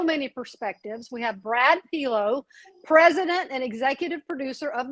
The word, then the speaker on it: Pelo: You pronounce my name Pelo, like hello. Hello, Pelo.